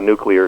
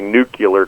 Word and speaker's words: nuclear: you can simulate a nuclear explosion I'm trying by the way not to say nucular because the Americans completely screwed up that pronunciation yeah they did short